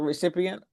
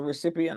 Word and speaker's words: recipient: A person who receives something is a recipient. A person who receives an email is a recipient, not a recipient.